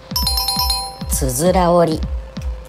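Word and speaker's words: 九十九折り: 正解はつづら折り。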